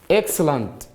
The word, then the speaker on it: excellent: Here you cannot say eg. Here you say X. As you read excellent.